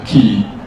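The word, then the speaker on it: 気: prominent one is the chi or in Japanese it's called the key who have heard about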